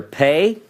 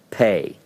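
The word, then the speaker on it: פ: alright doggish means piercing if you see it with the doggish it's pronounced with a hard sound it's pronounced as a P all of these are referred to as the letter pay P sound if it doesn't have a doggish in it it's pronounced with an F so it would have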